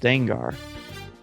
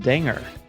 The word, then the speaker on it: Dengar: My biggest issue around this whole thing has nothing to do with him being in it, but the fact that Dengar is pronounced Dengar. Why isn't he pronounced Danger?